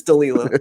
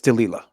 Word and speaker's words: Delilah: I just read I just read strong it's Delila so just so you know just don't don't even don't use your own name wrong and if anyone that's what that is